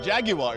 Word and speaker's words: Jaguar: Actually, it's Jaguar. It's Jaguar. 3 syllables, so I'm sorry.